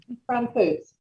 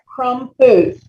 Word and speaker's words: Crompvoets: Okay, Crompvoets. Did I pronounce that correctly? Crompvoets. Say it again. Crompvoets. 2 syllables.